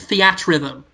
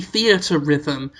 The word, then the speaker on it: Theatrhythm: how you say rhythms I was calling it Fiat rhythm yeah yeah but then dial I think to the story saying oh by the way we've all been pronouncing it wrong I think it might be theater rhythm but my role is